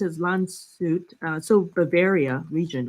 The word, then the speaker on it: Landshut: It's pronounced as Landshut, so Bavaria region, right?